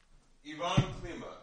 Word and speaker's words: Ivan Klíma: Ivan Klíma.